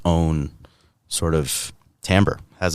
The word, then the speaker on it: timbre: of it that has its own sort of timbre, has its own shade.